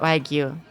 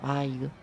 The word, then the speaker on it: Wagyu: It's not Wagyu. And it's not Wagyu. It's like Wagyu. It's like in between, like a silent sound almost.